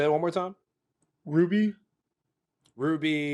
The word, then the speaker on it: RWBY: Ruby. It's spelled RWBY.